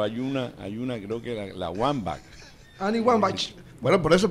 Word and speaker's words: Wambach: Así es que se pronuncia. Wambach.